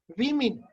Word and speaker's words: women: Women nahi, women. The pronunciation is women.